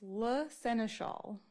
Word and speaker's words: La Seneschal: And before I say it, can you please pronounce your name again so I say it correctly? It's La Seneschal.